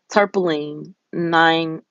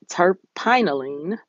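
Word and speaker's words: terpinolene: tarpoline nine. Um, I'm sorry, tarp tarpinolene, and that's spelled T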